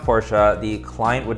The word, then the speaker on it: Porsche: for the porsche panamera it's pronounced porsha the client would not